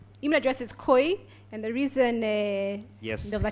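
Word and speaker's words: Kui: Email address is Koi. And the reason there's a challenge pronouncing it.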